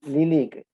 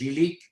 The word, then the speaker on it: Lylyk: No, el nuestro, por fortuna, es Lilik, se pronuncia Lelek en ucraniano.